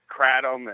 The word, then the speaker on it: kratom: I say kratom, but a lot of people say it kratom, and the people that introduce me to it say kratom.